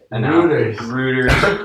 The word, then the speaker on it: Reuters: per day, according to Reuters. Reuters. I'm sorry, it sounds like Hooters. It literally sounds like It's rude. That's just how it's pronounced.